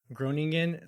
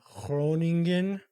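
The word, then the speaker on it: Groningen: San Jose in 2017 from groan excuse me groning uh I believe is the the Dutch pronunciation of it um on his contract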